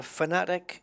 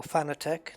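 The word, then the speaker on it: Fanatec: It's a fanatic or fanitech, depending how you want to pronounce it.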